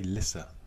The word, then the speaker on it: Lyssa: i find it strange pronouncing her name lisa i want to say lissa but at least so yeah yeah i don't i don't know many leases that are um l y double essay that's uh apart from lisa